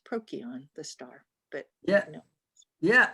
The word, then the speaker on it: Procyon: and albanian the greeks the ancient greeks didn't use that that sound for c it was a k sound and so it would theoretically be pronounced prokion the star but yeah